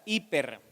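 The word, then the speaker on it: ὑπέρ: que es más contundente, es la palabra uper, ¿verdad? Se escribe J-U-P-E-R, ¿verdad? Hiper, que significa por encima, ¿verdad?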